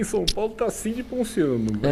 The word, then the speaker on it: Ponciano: Pontiano, é o quê? Ponciano mesmo. Ponciano mesmo? A pronúncia com 2C não, né? Não, um C só.